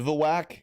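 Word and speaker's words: bivouac: Okay. Bivivalac. That's how it's pronounced. Okay. Bivawwak.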